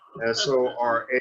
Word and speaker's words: Sora: S-O-R-A with an accent on the name, Sora.